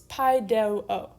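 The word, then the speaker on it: παιδεύω: I think it also helps to say it because it's paideuo. So paideuo, there's 3 syllables, and you just move back 1 space based on what you say and what you hear.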